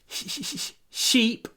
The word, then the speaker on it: sheep: Sheep. А когда мы говорим sheep, это скорее твердый ша. Sheep.